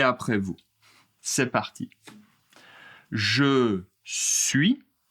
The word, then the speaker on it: suis: Pour la première personne, je je suis je suis Attention, le S n'est pas prononcé.